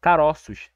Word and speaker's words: caroços: normal caroço caroço tranquilo agora no plural caroços Você tá vendo que parece que tem um acentos em aguda aqui no ó é basicamente isso chama